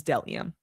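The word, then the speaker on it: bdellium: You do not pronounce the B. The B is silent. It is delium.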